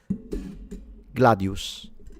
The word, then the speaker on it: gladius: It's in between the S and the sh. So it's gladius would be the pronunciation.